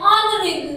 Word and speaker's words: honorable: H is silent. And honorable man.